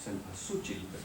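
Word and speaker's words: cempasúchil: flor del Sas ochil en muchos lugares se conoce como sempasuchil es cuestión de distintos pronunciaciones de la flor la flor es la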